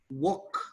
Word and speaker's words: walk: uh like uh talk walk yeah you don't pronounce the l but in some other